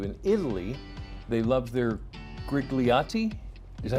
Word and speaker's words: grigliati: In Italy, they love their grigliati.